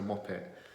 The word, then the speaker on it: Muppet: England Maupin we don't we don't pronounce the T on the end so we just say mop here is a mop it and a muppet or